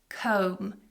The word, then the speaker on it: comb: Comb your hair. Comb. So it has a silent B.